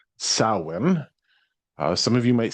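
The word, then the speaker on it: Samhain: So, primarily it's an Irish holiday called sin. Uh some of you might see it spelled Sam Hayne, but it's pronounced sin.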